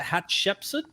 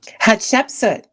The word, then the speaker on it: Hatshepsut: How do you pronounce it? Hatshepsut? Hatshepsut.